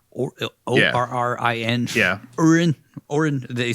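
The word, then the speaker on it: Orrin: Orin.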